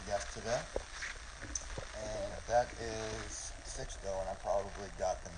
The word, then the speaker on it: Sixto: Stone and uh six years six am I pronouncing that right yeah six though yeah that's right six though okay and is